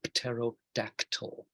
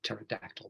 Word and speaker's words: pterodactyl: its long fingers, and that is a pterodactyl, or pterodactyl, because we don't like saying pt in English. So we just pretend the p is not there.